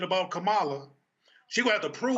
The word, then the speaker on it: Kamala: first of all uh again it's kamala her damn name is kamala okay can we pronounce the black woman's name right her name is kamala it's not kamala it's kamala so can we go ahead and get it right her damn name is